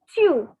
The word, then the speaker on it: tu: So it is como, then chew. Now take the Hindi word tu and make it a bit stylish, like the French people are very stylish. So instead of tu, say chew.